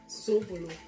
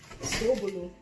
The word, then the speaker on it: Sobolo: Zobolo. Why is it Zed? Why is it not Zo? Who said it's Zed then? So what is it? Sobolo.